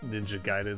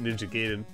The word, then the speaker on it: Ninja Gaiden: Yeah, I'm well aware that it's pronounced Ninja Gaiden or whatever. But as I've said many times, I grew up in an age where where we all called it Ninja Gaiden, like Raiden.